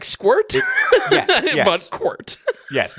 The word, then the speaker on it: Quirt: Yeah, it's Quart. I hate to say it. It is squirt, but with a Q.